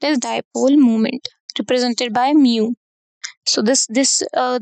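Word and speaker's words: μ: dipole moment represented by mu so this this uh this symbol is uh pronunciated as Mu so dipole moment is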